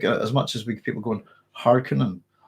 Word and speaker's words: Harkonnen: Harkonnen, as far as I know, has got two umlauts and their direction within language. So it's Harkonnen, as far as I'm concerned. And that's because of the umlauts. They give direction on how to pronounce a word.